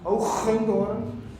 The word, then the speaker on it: Hoogendoorn: In Dutch, by the way, because I'm from the Netherlands, it's pronounced Hoogendoorn.